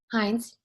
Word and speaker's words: Hines: How do you say her last name? Hines. Hines. I want to make sure I say it right. It's not like French or something.